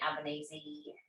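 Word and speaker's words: Albanese: um with labour's um anthony ebenezi is that how you pronounce it yeah or you can call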